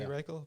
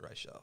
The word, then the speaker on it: Reichel: It should be Reichel, but he pronounces it Reichel.